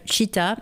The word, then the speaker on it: Chitta: Vous pouvez suivre son activité et les différentes informations la concernant sur son compte Instagram, Studio Chitta, donc Chitta ça s'écrit C-H-I-T-A.